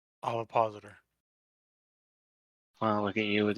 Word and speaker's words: ovipositor: I don't know how to pronounce this word. Obvipositor. Ovipositor.